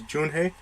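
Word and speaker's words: Junhoe: If I remember correctly, I think the way I saw it's supposed to be pronounced is Junhei.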